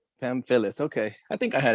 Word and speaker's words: Pamfillis: last name man so i don't butcher it pam phyllis pam phyllis okay i think i had it right yeah